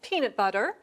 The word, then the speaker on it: peanut butter: Say these compound nouns and put more stress on the first part of the first word.